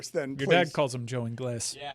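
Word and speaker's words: Ingles: Your dad calls him Joe Engles. Yeah. Yeah. That's the way it should be pronounced in Spanish or in English. Joe English is exactly what it should be.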